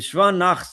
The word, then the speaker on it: Shva Na: So there's a thing as a Shva Na, which moves, meaning you pronounce it as an I, and there's a Shva Nach, which is silent, right?